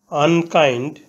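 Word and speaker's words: unkind: ম্যান আনকাইন্ড অর্থ নিষ্ঠুর আনকাইন্ড এখানে ইউ এর উচ্চারণ বাংলা বর্ণ আ এর মত হয়েছে ইউ এর উচ্চারণ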